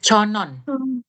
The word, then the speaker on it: 천원: Bukan conwon, 천- bacanya conon.